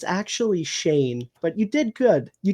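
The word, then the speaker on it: Schoen: because it's spelled shown it's c-h-o-n-e so i pronounced it joe shone and his daughter corrected me and was like it's actually shane but you did good you tried ah yeah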